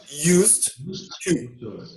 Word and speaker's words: used to: I used to. Então, desse jeito que eu falei agora, sempre vai ter o used e o to juntos. Então você tem que pronunciar assim, I used to. A letra D nem sai.